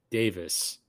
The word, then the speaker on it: Davies: confirmed it with her it's spelled Davies it's pronounced Davis what yes with no